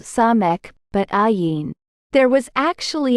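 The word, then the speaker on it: סמך: Yes, of course, it is pronounced Samekh.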